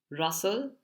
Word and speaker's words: rustle: it as rustle but the t is silent Russell the next one is